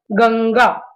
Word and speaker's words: गंगा: जैसे गंगा, अब ये क वर्ग का है ग, दूसरा वाला, तो इसमें ङ का आधा उच्चारण आएगा और ये अनुस्वार के रूप में लिखा जाएगा, गंगा।